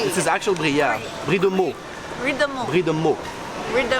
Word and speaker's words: Brie de Meaux: Brie de Meaux.